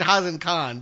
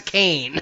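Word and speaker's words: Kaine: I said Hazen Khan, but we don't ever hear anyone say his name, right? It's spelled K-A-I-N-E. In English, right. That's Kane. It's Kane.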